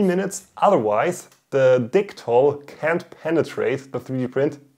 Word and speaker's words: Dichtol: In Germany, it's pronounced Dichtol, but this is an English speaking video, so I will pronounce it Dichtol.